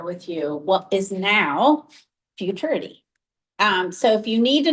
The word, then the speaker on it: Futuriti: you what is now Futuriti. So if you need to know how to say it, just rhyme it with maturity and blame us for the wonky name.